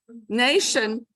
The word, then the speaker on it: nation: Okay, nation is spelled with a T because it used to be pronounced with a T. So now it's an SH.